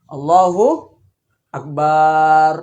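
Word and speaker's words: الله أكبر: sah seperti itu atau ada juga Allah Akbar barnya panjang bar gini nah gini Allahu akbar ah itu barnya barnyaan panjang ini merubah arti semua ini merubah arti dan menjadikan salatnya tidak tidak sah jadi ini harus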